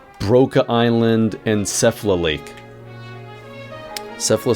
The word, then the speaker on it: Sephla: island and sephla Lake sephla sounds like kefla well it Rhymes so anyways this is